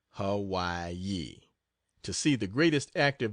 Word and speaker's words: Hawaii: again and then to the island of Hawaii pronounced Hawaii to see the greatest active volcano in the